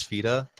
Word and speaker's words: feta: kind of mad cuz the Arabic pronunciation of feta is fita cuz like that's just how the language is so that it's knowing